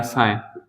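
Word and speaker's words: sign: साइलेंट होता है तो वह जी कैसा होगा साइलेंट होगा जैसे हम एग्जांपल समझते हैं एग्जांपल में मैंने कहा साइन साइन मीस होता है एक तो सिंबल होता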